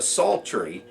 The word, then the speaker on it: psaltery: eventually instead of a psaltery most people just started calling it a lap part because that was a little bit easier to spell you know no silent P you know in the front well our friend that